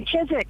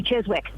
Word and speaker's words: Chiswick: Say Chisik. And how do you spell that? Where's the W, Ian? Chiswick. Yeah. Yeah. But where's the W, Ian? Chisik. You've said it. It should be Chiswick.